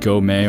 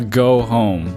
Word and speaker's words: Gome: earlier, because I think I said Go Me or Go Me because it's spelled Gome. But like if you look at the logo, it literally has like a house, like a home, and so it's supposed to be like a go home.